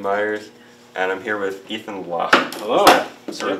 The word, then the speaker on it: Ethan Loch: Hi everyone, I'm Ben Myers, and I'm here with Ethan Loch. Hello. Is that sort of the correct pronunciation of your name?